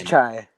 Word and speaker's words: Chai: It's Chai.